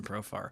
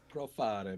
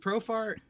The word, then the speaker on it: Profar: Profare, man. Profare. That's how I always say his name. I don't know why I add that to it. He's from Curacao, man. He's not from Italy. I don't know why I do that. I still don't know why I do that. I know how to pronounce his name.